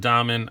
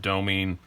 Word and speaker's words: Domin: Some people call it Domin. I pronounce it Domin. It's a foreign talk word, and I'm a pretentious jackass, so I'm going to say it foreignly.